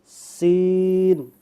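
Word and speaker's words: س: সিন সিন জিহ্বাটা উপরে এখানে আসবে না জিহ্বাটা নিচে থাকবে সিন ওকে আমরা আরো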